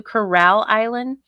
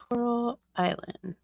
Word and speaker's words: Coral Island: But of course, in Shani fashion, she mispronounced it to Corral Island. How did she get the money for it? Hold on, let me look it up. Coral Island.